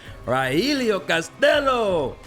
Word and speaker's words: Rogelio Castillo: And my guy, Rogelio Castillo.